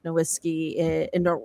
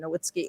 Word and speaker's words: Nowitzki: Like I'm really looking forward to seeing like Blake Griffin and like Dirk Nowitzki sorry, I mispronounced his name, Nowitzki, and Vince Carter.